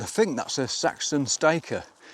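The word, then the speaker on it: styca: think that's a Saxon stiker. I think you pronounce it stiker, S-T-Y-C-A. I could be wrong, but stiker, I go for stiker.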